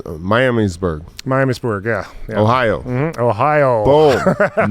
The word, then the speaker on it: Miamisburg: of the shows it's what how do you pronounce Miamisburg Miamisburg yeah Ohio mm Ohio boom nice oh man